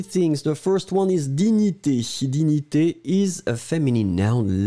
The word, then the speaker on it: dignité: The first one is dignité. Dignité is a feminine noun, la dignité. And you write it D-I-G-N-I-T-E, accent aigu. And remember, G-N-N-N-N-N-N, digni, digni, dignité.